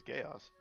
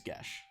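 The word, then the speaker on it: geis: Also, I didn't know it was called Gesh for fucking years. Yeah, I always thought it was chaos. I think it's like a Irish word or something, but apparently the real pronunciation is Gesh.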